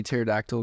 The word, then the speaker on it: pterodactyl: can't you hear a pterodactyl going to the bathroom I don't know because the p is silent almost got it [